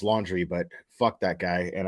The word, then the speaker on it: Laundrie: Yes, I know his name is pronounced Laundrie, but fuck that guy, and I call him and his family Laundrie out of just sheer disrespect.